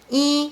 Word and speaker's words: 一: But when yi combines with the character in the fourth tone, yi should be pronounced in the second tone, like 一半。